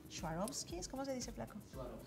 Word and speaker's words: Swarovski: How do you pronounce it? - Swarovski.